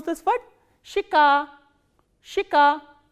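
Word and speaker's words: щека: Shika, shika. Again we follow the rule of reduction here. This ye sound is pronounced as e, shika.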